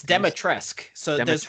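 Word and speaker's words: Dimitrescu: It's Can you Demetresk. So there's you Demetresk. don't pronounce the U, which is Okay. absurd. So Demetresk Lady Q sounds.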